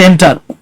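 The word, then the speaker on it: enter: তবে এন্টার, অনেকে ইন্টার বলে, উচ্চারণ হচ্ছে এন্টার।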